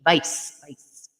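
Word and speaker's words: Weiss: pner yes the Wei that's pronounced with a V vice vice all righty uh and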